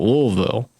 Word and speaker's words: Louisville: for instance, my corporal, he's from just outside of Louisville, Kentucky, or Louisville, but how he says it is really weird, or how you pronounce it. To me it is, because it's like, I would just say Louisville. Well, a true Kentuckian from that area, from I guess that area, would call it Louisville.